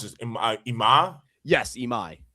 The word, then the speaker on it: Imai: They chose not to go after how do you pronounce this? Ima? Yes, Imai. Imai.